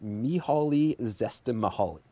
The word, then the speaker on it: Csikszentmihalyi: in the 70s, and everyone says his name quite differently, but the way that I pronounce it is Mihaly Csikszentmihalyi.